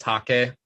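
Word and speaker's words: Taake: that's that t it's t-a-a-k-e means fog it's like fog and uh norwegian i believe yeah but pronounced take-a so yeah cool stuff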